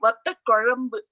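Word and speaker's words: vatha kuzhambu: with it, a pundu vatta korambu. So that's hard to pronounce. The r sound is a very special sound in Tamil.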